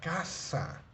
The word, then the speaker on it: casa: casa casa por ejemplo tenemos K como la palabra casa ok K es un sonido